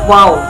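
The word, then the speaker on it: و: 26, yaitu huruf waw. Pelafalannya wa.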